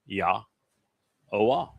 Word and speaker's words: Yahweh: Every letter in Yahweh's name is easily pronounced. It is Yahwa.